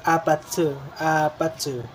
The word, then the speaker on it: APT: apartment or little apartment, kaya pag binibigkas siya is apatsu. Kaya siya apatsu.